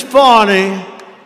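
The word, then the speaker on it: Fani: fonny fonnie you know fonnie spelled f a n i my name is fonny f a n i i don't figure it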